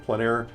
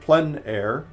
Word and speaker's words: plein air: Plein air essentially means outside or out of doors. The French pronounce it plein air, others pronounce it plein